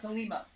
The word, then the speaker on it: Thelema: Yeah, Thelema.